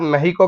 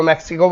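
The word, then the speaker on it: Mexico: कुछ लोग इसको मैक्सिको बोल देते हैं। The correct pronunciation is मेक्सिको।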